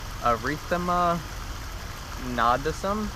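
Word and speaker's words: erythema nodosum: this one's kind of interesting but it's called erythema nadism it's spelled e-r-y-t-h-e-m-a and then the second word is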